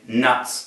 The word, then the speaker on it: K-Nuts: K nuts of do or really nuts of do as if it were a silent k dough as in the dough you find in doughy products thank you can we